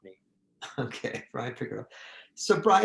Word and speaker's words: Piccirillo: Piccirillo, Piccirillo, not the doctor one. There's a doctor somewhere in Iowa. That's not me. Okay, Bryan Piccirillo.